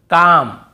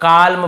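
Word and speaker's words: calm: हमें नहीं पढ़ना है जैसे काम बाम पाम और यहां पे आमंड बहुत से लोग आलमंड ऐसे बोल देते हैं बहुत काल्म बालम पाल्म नहीं होगा काम बाम पाम और आमंड ऐसे आलमंड आलमंड नहीं पढ़ेंगे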